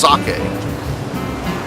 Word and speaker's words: sake: green episode after all also I learned it's pronounced socket the funny thing is were pretty much done